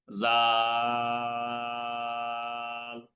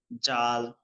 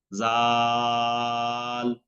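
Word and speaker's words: ذال: জিহ্বার আগা উপরে 2 দাঁতের আগা থেকে উচ্চারণ হবে, পাতলা হবে, বাতাস বেশি বের হবে না। জাল। অনেকে এটাকে ভুল করেন, জাল জাল এভাবে শক্ত করে বলেন।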